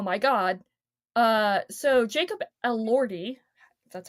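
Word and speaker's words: Elordi: And the reason that while I was saying oh my god uh so Jacob Elordy that's how you pronounce his last name is playing Heathcliffe in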